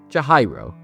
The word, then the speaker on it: Chihiro: From now on, I'll say the name proper. Chihiro.